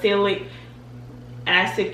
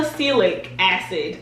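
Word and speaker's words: azelaic: after the fact because celic acid can sometimes still acelic acid that's why i kept pausing because i know i was saying it wrong it can sometimes be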